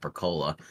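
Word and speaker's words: capicola: cheeses golly gab um which for most of us Americans it's pronounced caola but anyway um uh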